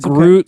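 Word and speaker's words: gruit: Groot spelled like fruit, but with a G. Exactly. Yep. Not Groot like I'm Groot, but Groot like fruit.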